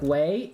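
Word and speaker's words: vej: Veg is pronounced like way in Danish. Oh, so I should say way? So if I said veg, it should be way?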